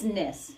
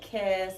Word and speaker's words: Kniss: It's Kniss. Silent Kniss. K, yeah. Silent K. Yep.